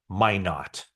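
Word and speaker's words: Minot: out Eric manlo um why not my not that's how he told me how you pronounce my not state so the 49 will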